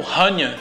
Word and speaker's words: Hannya: E no Japão, a adaptação da pronúncia de Prania, ela ficou como Rania.